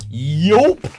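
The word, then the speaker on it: Joop: In college, I wore Yoop. Yope. That's with a silent J, or a J is okay.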